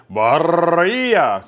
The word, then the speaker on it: birria: Or in Spanish, it says birria. So you got to roll the R because it says birria. You like to roll the R in the Spanish language.